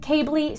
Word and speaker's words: CABLI: It's pronounced CABLI, spelled C-A-B-L-I.